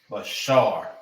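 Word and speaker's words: בשר: Flesh and body is Bashar.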